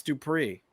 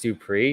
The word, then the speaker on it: Dupree: But like Max Dupree, does he do Max Dupree? No, he goes Max Dupree. Because it's not Max Dupree, it's Max Dupree. It goes up, Byron.